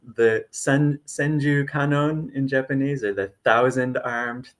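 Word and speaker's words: Kannon: And so, kanon in Japanese, some English speakers are more familiar with the Chinese pronunciation guanyin, um, but this is considered the embodiment of compassion.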